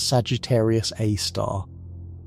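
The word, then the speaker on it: Sagittarius A*: We call it Sagittarius A, pronounced Sagittarius A star.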